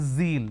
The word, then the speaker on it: zeal: It's not zebra, it's zebra. It's not John, it is zone. It's not Jeel, it is zeal. It's a z sound.